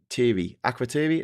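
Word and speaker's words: Akrotiri: The only thing in range was Acroi. Accuri is how you pronounce it.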